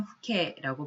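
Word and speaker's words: 父兄: 다음으로 한자로 부형이라고 쓰여 있습니다만 요거는 후케라고 발음을 하고요.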